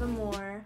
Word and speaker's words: Aimore: you guys don't know even though it's not spelled the same way it's pronounced as a more a more means love